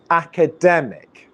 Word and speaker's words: academic: on the rhythm okay so we now know that there's four syllables and the stress syllable is dem so academic academic just